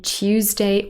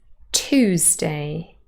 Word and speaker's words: Tuesday: Now, here we actually have two British pronunciations, RP Tuesday or Tuesday with a ch already, Tuesday. But in General American pronunciation with Yod dropping, it is Tuesday.